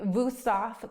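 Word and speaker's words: Wüsthof: Um, there's going to be Vousaf, classic German brand. Just look, it's it's a W. They pronounce it with a V.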